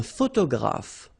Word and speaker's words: photographe: So here PH and here PH, pronounce it like F, f, f, f. Photographe. Okay, same thing here. This you don't insist on it. You only pronounce this f at the end.